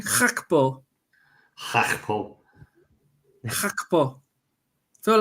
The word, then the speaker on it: Gakpo: I think like you say, Gakpo, and apparently it's pronounced Gakpo.